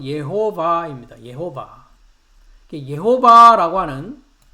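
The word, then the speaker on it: יהוה: 그럼 주의 이름은 예호바라고 발음을 하고요. 한글 성경에는 여호와 여호와 그래 있습니다. 그렇죠? 네. 그래서 히브리 발음은 예호바입니다.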